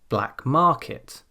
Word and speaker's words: black market: Whereas if the first part of a compound noun operates like an adjective, then usually we stress the second word. Let's have a look at some examples. Black market.